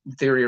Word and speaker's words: Theory: Theory rhymes with Fury, but he calls him Brandon Theory.